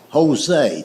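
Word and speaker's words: José: It's like the word Jose. The word Jose is J O S E, but it's pronounced with a H."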